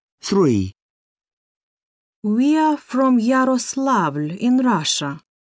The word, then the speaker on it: Yaroslavl: e n c h three we are from yaroslavl in russia yaroslavl how do you spell that y a r o s l a